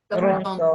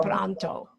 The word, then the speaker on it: pronto: Hasta pronto. Pronto. Right. Try to roll your R's. Just practice rolling your R's.